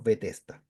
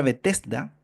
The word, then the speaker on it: Betesda: de la oveja un estanque llamado en hebreo betesda el cual tiene cinco pórticos la palabra betesda significa misericordia gracia casa de misericordia Eso es betesta todo lo que empieza con bet es casa